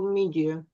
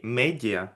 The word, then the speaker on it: media: Social media. О, pronunciation, да, то есть это не медиа, да, а media, media.